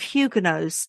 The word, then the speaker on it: Huguenot: that the edict gave Hugenos certain privileges including some religious liberties. I will update my pronunciation here. So, we're I'm to say hugeno.